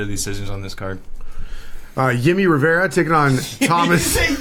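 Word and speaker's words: Jimmie: Yimmy Rivera taking on Thomas. Did you say Yimmy? You fucking said Yimmy? It's the Brazilian pronunciation. Yimmy Rivera. It's Himmy. It's Yimmy Rivera. Avera, yeah. Himmy Rivera.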